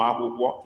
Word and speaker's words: akwụkwọ: Ụmụ akwụkwọ.